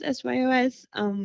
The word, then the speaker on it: SYOS: I basically, for me, I always pronounce it as SYOS. It's Shape Your Own Sound.